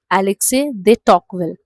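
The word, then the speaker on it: Alexis de Tocqueville: सो एलेक्से दे टॉकवेल, so that is द pronunciation of his name.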